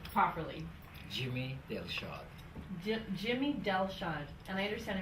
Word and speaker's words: Delshad: First, let me pronounce her name properly. Jimmy Delshad.